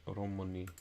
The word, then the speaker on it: români: Sounds like the I is silent in Roman and mulți, but not in oameni.